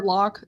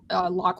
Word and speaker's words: Locke: which is it's Locke, Locke with an E at the end, by the way, because let's have a silent letter.